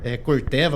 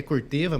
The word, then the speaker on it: Corteva: Pode falar Corteva, muita gente acha que é Corteva, mas pode falar Corteva, que é o nome correto de se pronunciar, da Corteva AgriScience.